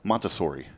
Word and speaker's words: Montessori: And so a big shout out as well to tomorrow's Promise Montessori schools. Did I say that right? Montessori. Does it still have the Z? No, it has no Z.